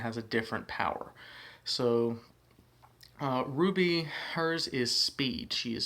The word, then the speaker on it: RWBY: just so happens that her team's name is Ruby but it's spelled r-w-b-y so it's just one of those